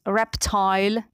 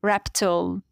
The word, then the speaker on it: reptile: In British accent, it is pronounced fertile. In American accent, fertile. In British English, reptile. In American, reptile.